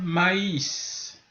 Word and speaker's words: maïs: les i et bien par exemple au lieu de dire mais le mois de mai ou mais avec MAIF si on met le traitement ça devient maïs donc c'est vraiment nous